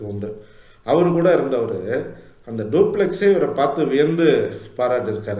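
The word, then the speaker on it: Dupleix: அவரு கூட இருந்தவரு அந்த டூப்ளக்ஸ் இவரை பார்த்து வியந்து பாராட்டி இருக்கார் இருக்காரு இவர் டூப்ளக்ஸ்ன்னு ஆங்கிலத்துல சொன்னாலும் டூப்ளே அப்படின்னுதான் அதனுடைய சரியான உச்சரிப்பு அவர் கூட இருந்தவரு இந்த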